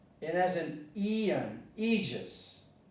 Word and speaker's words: aegis: Well, if you have an A-E, you pronounce this as an E, not as an A. And as an eon, aegis, aegis.